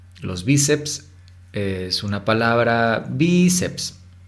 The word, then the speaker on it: bíceps: idioma español por ejemplo bíceps los bíceps es una palabra bíceps la sílaba tónica es vi eso la convierte en una palabra grave termina en ese la